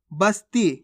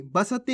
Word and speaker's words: बस्ती: अब चलिए आगे देखिए बस्ती कैसे पढ़ेंगे बस्ती बसती नहीं बस्ती ख्वाब कैसे पढ़ेंगे ख्वाब